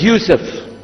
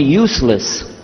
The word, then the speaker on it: Yousef: back some are gone my name is Yousef he say Yousef Misha Houston very good I wish to teach my wife she keeps mispronouncing it she calls me useless home delenn now how